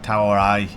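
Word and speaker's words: เท่าไร: Try and learn like a simple one is like tower a tower a it's like t a o a r a i I I is the pronunciation of it that means how much and then add cub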